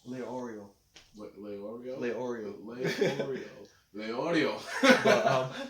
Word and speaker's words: Leorio: Gon, Killua, Kurapika, Liaro. So. How do you say his name? Leorio.